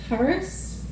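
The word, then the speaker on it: χάρις: Um, it's harus. It's approximately the right um, pronunciation, but it's the same word as gift.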